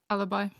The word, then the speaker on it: Alibi: How do you pronounce it? Alibi.